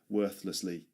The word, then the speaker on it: worthlessly: Worthlessly. Worthlessly. Worthlessly. Again this th sound appears and that's why it's difficult to pronounce this word.